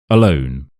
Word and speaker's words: alone: Alone. Alone. Alone. The a very short. The alone is very strong. So that's the stress part.